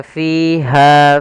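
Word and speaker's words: فِيهَا: Usahakan panjangnya fiha fa harus sama.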